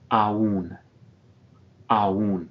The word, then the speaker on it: aún: Aún, aún, this means still or yet, the sort of a synonym for todavía, but it has a written accent.